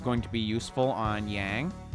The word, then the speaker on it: Yang: to be useful on yang or young as they pronounce it in this game for some weird reason yourselves a silver hourglass